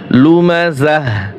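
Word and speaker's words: لُمَزَة: লুমাযাহ, গোলতা ওয়াকফ হবে, গোলতা ওয়াকফের সময় হা উচ্চারণ হবে।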